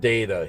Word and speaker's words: Data: So, um, it it's usually pronounced data. He he in the show says my name is data, not data.